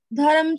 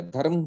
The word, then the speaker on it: धर्म: धर्म क्षेत्र नहीं है, धर्मा क्षेत्रे। ठीक है, ये बहुत लोगों की ये प्रॉब्लम है, मैं देख रहा हूं। धर्मा, धर्म नहीं, धर्मा।